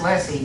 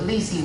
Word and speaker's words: lessee: You can say leasee. It's pronounced lessee, but leasee works just fine.